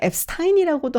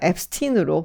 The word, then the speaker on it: Epstein: 사실 한국에서는 앱스타인이라고도 하고 앱스틴이라고도 하는데요. 미국에서는 발음을 앱스틴이라고 해서요. 이제부터 제가 앱스틴으로 발음을 하도록 하겠습니다.